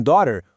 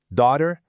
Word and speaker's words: daughter: Em daughter, o gh não é pronunciado.